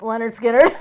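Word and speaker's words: Lynyrd Skynyrd: And Leonard Skinner. It's pronounced Leonard Skinner.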